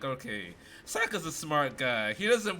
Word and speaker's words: Sokka: And Sokka rhymes with Akka.